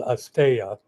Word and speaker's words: asteya: And you're going to talk about, pronounce the non-stealing yama for me? Well, in Sanskrit, it's called asteya.